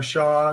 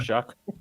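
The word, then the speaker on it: Shough: Limited sample size with Tyler Shaw shows him to be Tyler Shuck. Shuck. Okay. Which is apparently how that's pronounced.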